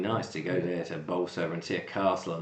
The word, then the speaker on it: Bolsover: Jordan says, I was born in Chesterfield in Derbyshire, and we used to live in a village called Bolsover. Yep. Is that how you pronounce it?